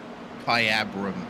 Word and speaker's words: Kyabram: And um that that would be um I don't want to mispronounce that. Jay, can you tell me? Kyabram. Okay, that's the uh name of the town there. Kyabram, Victoria.